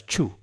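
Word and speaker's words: 畜: For the character chew, animal, it might be better to pronounce it as chu.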